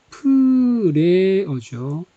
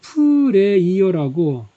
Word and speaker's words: prayer: 프레어죠. 이거를 프레이어라고 생긴 대로 읽어버리면은 기도하는 사람이 됩니다. 기도하는 사람. 프레어라고 읽어야지 기도가 됩니다.